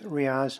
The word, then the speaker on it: Riaz: for the record yes yes my name is Riaz it's spelled RI a Z last name is spelled